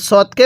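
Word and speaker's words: ص: রকম সদের মাখরাজ হলো জিহ্বার আগা সামনের নিচে দুই দাঁতের আগার সঙ্গে লাগাইয়া এই সদটা উচ্চারণ হবে সদ এরপরে দত এই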